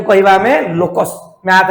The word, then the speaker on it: locus: को इंग्लिश रे कहबा कोन पिले LOCUS कोन लोकस प्रोनाउंस करो बोले कि LOCUS लोकस माने पिले कर्व